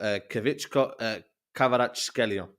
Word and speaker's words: Kvaratskhelia: And you know when you talk about a Figo region, yeah, it's called Kvaratskhelia. I finally pronounced his name right.